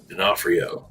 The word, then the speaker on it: D'Onofrio: like missing a nose he wears like a D'Onofrio D'Onofrio yes there's also another amazing character actor yeah